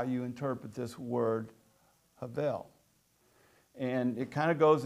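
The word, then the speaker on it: הבל: In Texas, we would probably pronounce it Havel, it's with a V in it, but that's how it's properly pronounced.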